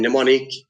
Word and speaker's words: mnemonic: knife K is silent, or in mnemonic M is silent.